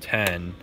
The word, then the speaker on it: iPhone X: the comments guys but i'm pretty sure the iphone x is supposed to be called 10 and it's just spelled with a roman numeral which people wouldn't really